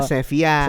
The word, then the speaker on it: Sevilla: Tulisannya Sevilla, bacanya Sevilla.